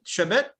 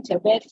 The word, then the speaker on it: Chebet: Shabet. I hope I pronounced your second name correctly. Yes, Go ahead. you got it correctly. Can you hear me? Yes, I can. Yes, my name is Chebet from EDC Logistics.